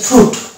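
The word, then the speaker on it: fruit: অনুরূপভাবে এই যে এটা হচ্ছে ফ্রুট, এই যে ফ্রুট বলি, ফ্রুট মানে ফল, এই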